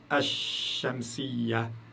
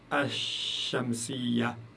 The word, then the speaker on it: ash-shamsiya: Donc là, vous ne pouvez pas prononcer le lam. Vous dites al-huruf, ash-shamsiya, ash-shamsiya.